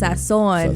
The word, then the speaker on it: Sazón: It is Sazón.